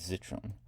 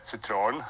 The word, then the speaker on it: Zitrone: pronounced perhaps as a Citron because it's the German word but I I heard